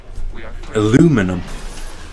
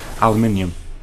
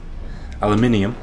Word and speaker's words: aluminium: Second I in the British form. Aluminium.